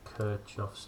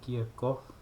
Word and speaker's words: Kirchhoff: video today is on kirchoff's lord now apparently kirchoff is not the uh official pronunciation of his name it's more kierkoff um his name is